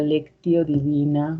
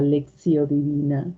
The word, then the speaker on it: lectio divina: pues el origen de la lectio divina o de la leccio divina como lo queramos pronunciar ya que es latín lengua muerta y la Real Academia nos deja pronunciarlo como queramos eh en el inciso